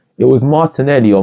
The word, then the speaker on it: Martinelli: You got the syllables of Gabriel Martinelli, and it has the accent at the E, alright? It was Martinelli or Martin.